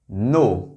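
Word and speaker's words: know: यह है नो। क्या वर्ड है ये? नो। यहां के साइलेंट है।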